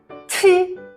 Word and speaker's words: qi: Next is our qi. Qi. Here you will keep your pronunciation unchanged. The airway should still be